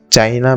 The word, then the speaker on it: chi: चाइना में इसे ची नाम से पुकारा जाता है, CHI, और जापानीज में इसे की नाम से पुकारा जाता है, मतलब कि KI।